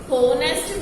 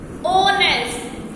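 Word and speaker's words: honest: now let's see other example is dash ऑनेस्ट, लिखा हुआ एच है बट इसे प्रोनाउंस करो, कैसे प्रोनाउंस करोगे, होनेस्ट तो नहीं होता, इसे प्रोनाउंस करते हैं तो क्या बोलते हैं हम, ओनेस्ट, ओ साउंड किसकी आ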